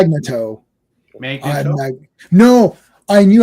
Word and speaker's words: Magneto: Chris Claremont still says it's Magnetto. Oh yeah, Magneto.